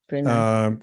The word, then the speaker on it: Brunei: Brunei.